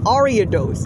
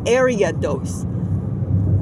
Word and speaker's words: Ariados: it's not lady on ariados not area dose I know it's from